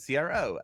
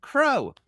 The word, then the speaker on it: CRO: There seems to be debate about the word CRO, in that some folks pronounce it crow. What's up with that? Who calls it crow? I don't call it crow.